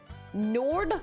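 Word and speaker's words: Njörðr: So Njarthur is pronounced more like Nord with a rolled R. Yeah, kind of like that.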